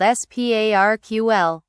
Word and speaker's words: SPARQL: We use a beautiful query language called SPARQL. It is pronounced exactly like the word "sparkle".